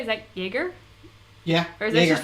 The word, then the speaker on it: Jäger: Is that Jäger? Yeah. Or is that just from like being in college? No. No. That's got the on it on the a. So Jerger. Okay.